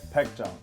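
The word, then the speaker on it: Baekjeong: How do you pronounce this name? Baekjong. Oh, I can't say that. Baekjong.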